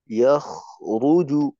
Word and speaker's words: يخرج: خلق من ماء دافق يخرج من খয়ের উচ্চারণ যেন আর একটু ই থাকে, ইয়াখরুজু এভাবে, ইয়াখ এভাবে যেন না হয়।